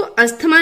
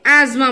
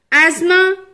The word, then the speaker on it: asthma: अस्थमा एक disease है लेकिन इंग्लिश में हम इसको अस्थमा नहीं बोलते हैं, एज्मा बोलते हैं, एज्मा, एज्मा, एज्मा।